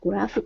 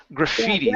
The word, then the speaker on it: graffiti: The graffiti.